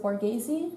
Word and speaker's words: Borghese: gonna use this concealer wheel how do you pronounce it Borghese Borghese yeah from Borghese this is hers um